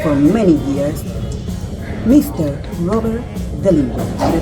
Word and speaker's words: Dehlinger: Robert Dehlinger. Did I pronounce it right?